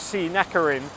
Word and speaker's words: Srinakarin: sense n so you'll see two different ways that this road name gets spelled but there's only one way to pronounce it and that is C neering although I'm pretty sure a few ties might do a few variations of it but it's all the